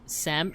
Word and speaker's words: salmon: Well, the thing with me is I I learned very late into my adulthood that it's actually supposed to be pronounced sam salmon without the L.